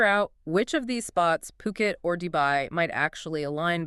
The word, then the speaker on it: Phuket: Ocean Worldwide and they specialize in they focus specifically on luxury properties in places like Coami and importantly Puket.